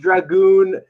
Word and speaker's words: Dragoon: dogs but that's another story uh so it's pronounced Dragoon it just came to me I was like